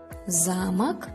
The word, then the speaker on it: замок: Будьте внимательны с ударением в этих словах. Замок – замок.